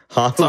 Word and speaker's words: Hartlepool: Remember we saw that statue, Jess, in Hartlepool. It's actually pronounced Hartlepool.